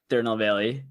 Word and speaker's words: Tirunelveli: So my mom is from Tirunelveli, which is how you pronounce it, but it's in the south side of India, basically on like the tip.